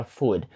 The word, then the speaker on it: food: тут є дуже просто суперважливими звуки оо в словах cooks та Food тому що дуже багато українців та взагалі інших національностей які вивчають англійську Вони думають що це просто звук у тому що він Інколи так звучить коли носії його вимовляють але насправді це щось між у та о коли ви широко відкриваєте